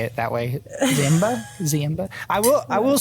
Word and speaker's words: Ziemba: Ziemba. Am I right? You're close. It's Ziemba, yeah. So I tell people to think of Lion King, Simba, and just add a Z.